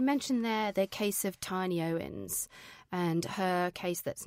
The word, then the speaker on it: Tini: Yeah, it's the marriage of Hugh Owens and Tini. It's actually pronounced Tini.